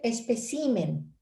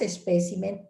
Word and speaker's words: espécimen: Dice espécimen. Esa es una acentuación incorrecta. El singular es espécimen y el plural es especímenes, pero ese desplazamiento al acento en sí es para el plural.